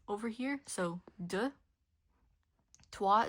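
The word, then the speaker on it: trois: TW is the same thing as well. Don't pronounce the S. And the O and the I here makes a W sound. So TW and cat don't pronounce the E.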